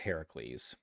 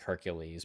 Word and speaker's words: Heracles: It's actually pronounced Heracles, if you're trying to be correct and accurate.